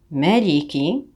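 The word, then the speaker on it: مَالِكِ: Ma, li, ki, maliki. Ne pas dire ma, c'est ma, maliki.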